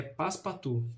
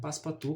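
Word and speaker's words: Passepartout: desse dessa obra que o nome dele, a pronúncia é um pouco difícil, mas se eu não me engano é Paspatu, né? Paspatu, que é um francês que é totalmente oposto do filas fog.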